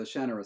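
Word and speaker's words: Shannara: Brooks series um the the shanur series or the Shara series depending on how you say it um is set in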